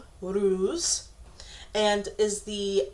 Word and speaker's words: Uruz: Phonetically, it's pronounced Uruz, and is the U or V of the alphabet.